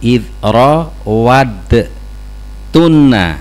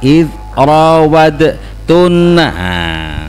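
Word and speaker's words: رَاوَدتُّنَّ: ee hurufnya bisa dilihat ya di situ idro wad tunna ya. Jadi makhraj dalnya masuk ke ta ada tasdid ya jangan dibaca idrad tunna ya.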